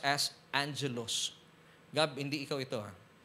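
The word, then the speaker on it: ἄγγελος: ni messenger in greek It's agilos pero It's pronounced as Angelos gab hindi ikaw ito ha So ibig sabihin Iyung Angelos dito It's a messenger of Satan agilos pero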